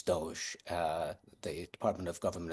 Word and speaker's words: DOGE: job um with the I always pronounce it dogy but it's Doge uh the Department of